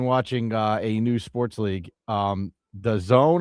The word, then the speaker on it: DAZN: And one more thing here, Joe, if you are interested in watching a new sports league, The Zone, I think it's pronounced, DAZN, adds something called 3 Ice.